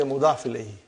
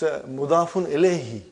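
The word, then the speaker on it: مضاف إليه: In short, you will always say mudaf ilayhi. No, it's mudafun ilayhi.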